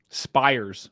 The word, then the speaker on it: Spires: Spires would be how you say the last name.